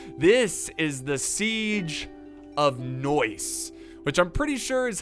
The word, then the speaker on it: Neuss: usually always wrong but i think it's noise and it's it's like saying nice but in a very obnoxious way noise uh anyways it